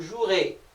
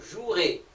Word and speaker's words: jouerez: Pour le verbe jouer, on garde toujours le verbe avec son infinitif, on rajoute la terminaison EZ, sauf que le E qui est là ne se prononce pas. Donc on aura vous jouerez, vous jouerez.